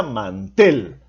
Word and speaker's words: mantel: Por ejemplo, podemos decir: ¿es correcto pronunciar mantel o es correcto pronunciar mantel? Entonces nos damos cuenta que se pronuncia mantel. Por lo tanto, en la última sílaba lleva la mayor fuerza de voz, es una palabra aguda.